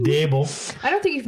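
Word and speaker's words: Daboll: Not Brian Dabble. Brian Dable.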